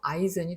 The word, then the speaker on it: Eisen: Liebe, Eisen, Chemie, Igel. 자, 이 셋은 다 이 발음이 나고 장모음인데 얘는 아이 발음이 나는 거예요. 얘랑 같은 거죠. 슈바이츠와 마찬가지로 얘도 아이젠이 됩니다.